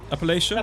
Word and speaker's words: Appalachia: Appalachia?